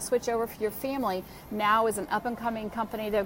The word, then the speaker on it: Know: I don't know why I said now. It's pronounced no, K-N-O-W.